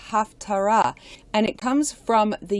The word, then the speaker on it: Haftarah: even pronouncing it right that's right the word haftorah is actually supposed to be pronounced Haftarah and it comes from the Hebrew root pay